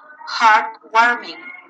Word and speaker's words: heartwarming: Number two, you have heartwarming. Heartwarming. Uplifting. Uplifting. Heartwarming. Heartbreaking. So the stress is in the first syllable.